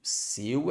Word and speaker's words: seu: desprender o El aqui ele é aberto não é igual ao el seu seu eu seu é fechado e céu é aberto é o de chapéu é diferente do é o de seu seu e céu viu o que quer